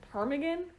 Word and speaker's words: ptarmigan: Ptarmigan? I assume the P is silent.